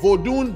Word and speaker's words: Vodun: I'm being serious right say vodun that's how the Africans pronounce it you know what I'm saying usually when you hear somebody's pronouncing vodun that's usually people from